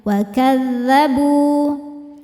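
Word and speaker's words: وكذبوا: Berhentinya pakai innabr naikkan intonasi suaranya mustamir waadzabu bu hukumnya mad thobi'i zohiri karena ada wau sukun didahului harakat dah. Cara bacanya panjang dua harakat bnya. Wakadzabu.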